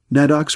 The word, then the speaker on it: Nadok: Nadok's pronounced na-dok by the Vaśņa is prayed to by those seeking wisdom or those merely wishing to make the right choice.